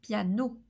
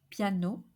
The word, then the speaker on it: piano: ends in o it's a closed o like in the word piano piano piano apricot Big M